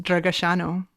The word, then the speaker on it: Dragasanu: So in Romanian, apparently it's pronounced Dragasanu.